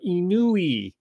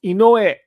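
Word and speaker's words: Inoue: hype job that uh inuy which is not how you pronounce it it's called inoe yeah and then there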